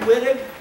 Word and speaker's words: Wittig: The last main thing I see here is the Wittig reaction. It looks like Wittig, but it's, the Germans have us pronounce it as Wittig. German chemist, Wittig.